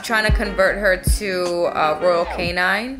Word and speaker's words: Royal Canin: Like the food she's eating right now is Nutrisource, but I'm trying to convert her to Royal Canine. I think that's how you say it. Royal Canine, Royal Canin.